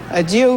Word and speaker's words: adieu: Adieu being Tin Pan Alley for the French adieu, which rhymes with ah, love, ailleurs. And we're back with operetta in 1911, right?